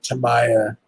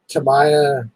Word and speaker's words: Tamiya: mine right now is the cameo uh or tamaya i said it wrong again to me it's a tammy to my uh semi record dude those tamiya like king holler grand holler all those freaking